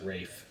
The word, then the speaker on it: Ralph: Well, but he pronounces it Rafe. Oh, Rafe.